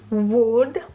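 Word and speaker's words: woad: A beautiful blue pigment for textile is wood. I'm not sure I'm pronouncing it well.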